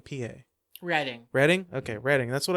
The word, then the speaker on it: Reading: Is it Reading or Reading, PA? Reading.